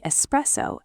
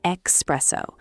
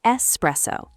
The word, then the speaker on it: espresso: Mistake number two, pronouncing espresso as expresso. Ah, yes. This one is very common. Many people say expresso, but the correct pronunciation is espresso. S, not X.